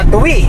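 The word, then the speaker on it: Tuy: Yes mga kabukot, nandito na po tayo sa Tuwi. Tuwi. Ito po ang palengke na Tuwi. Yes. Tuwi. Tuwi, Batangas. Tuwi no, pero ang pagbasa Tuwi. Tuwi. Pero Tuwi. Tuwi. Pronunciation Tuwi.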